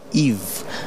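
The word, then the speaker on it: Yves: So it's written by Y-V-E-S, but it's pronounced by Eve, you know what I mean? The S is silent. Yeah. And the Y is E.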